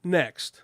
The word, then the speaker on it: NXT: a race so ending next it's not NXT it's next right it's pronounced next but it's spelled NXT not confusing at all